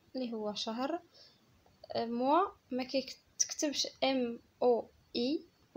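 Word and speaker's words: mois: موا ما كيتكتبش ام او اي بوحدها ديال شهر، حيت ام او اي بوحدها كتعني موا اللي هي انا، ولكن هذه عندنا موا بالاس والاس موي ما كتنطقش، يعني الفرق ما بين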